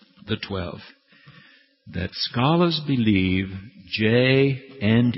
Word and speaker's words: ja: If you're going to say yes in German, you say ja, but it's spelled J-A. All right? J-A is Yah.